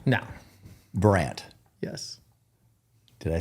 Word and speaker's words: Burandt: Yeah. Burandt. Yeah. That's Does it? Yeah. I don't know why they put a D in there, but it really screws people up. Do you say the D? No. Burandt.